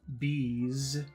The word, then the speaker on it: bees: snake peace peace and number two bees is the sound of a bee it's the sound of an insect Z bees so number one is